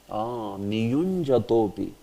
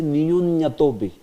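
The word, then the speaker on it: नियुञ्जतोऽपि: Niyunjatopi. But that J is not pronounced by many. They will say Niyunyatopi. You have heard this? Many will say Niyunyatopi. But there is J there. Niyunjatopi.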